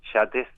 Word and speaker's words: Yates: memoria de Frances It, creo que se pronuncia, yates, como los barcos, y como el poeta irlandés, que que es una